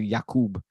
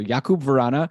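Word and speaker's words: Jakub Vrána: interviewed he was like I like when they call me yakub because that's the actual way to pronounce it so yakub varana another goal today he's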